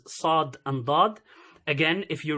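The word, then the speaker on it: صاد: so for the letter Saad it sounds as if it's an S but why I put heavy s over there the reason for that is because it's sound is different so if you listen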